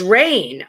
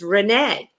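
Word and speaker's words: Reine: many many years and i always thought her name was rain r-e-i-n-e but she has now after all these years corrected me and her name is renee i did not know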